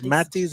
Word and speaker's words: Mattis: dining room and then is it pronounced matis yeah so it's Mattis and it itay my